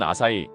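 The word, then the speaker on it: 朝日: 우리는이 환자들을 조일립 청수라고 읽지만 일본에서는 아사이 히타치 시미즈라고 발음하죠.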